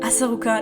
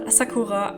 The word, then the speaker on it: Asaruka: Asaruka, not Asakura.